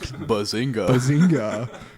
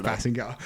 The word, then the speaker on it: Basinger: Kim Bazinga and like Bazinga. I don't know if that's how you pronounce it, but that's what we're going with. Maybe? I think it's Basinger.